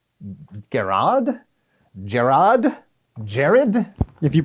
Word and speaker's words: Gerrad: Jared. If you pronounce it every single way you can think of, pick the one you like.